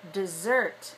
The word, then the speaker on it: dessert: and ice cream well that would be considered your dessert two two that means it has two syllables and it's dressed on the second soul dessert and the average